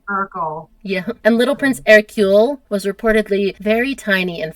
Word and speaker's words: Hercule: And then they had another baby, which is pronounced Hercule, which is a fine name, except if you say it in English, Hercule is Hercules.